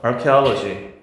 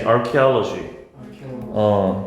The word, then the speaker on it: archaeology: archaeology. 다시 archaeology. 요게 ch가 크 사운드니까 취라고 읽지 말고 침입자 invader.